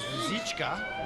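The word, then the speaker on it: Růžička: The correct Czech pronunciation is Ruzicka.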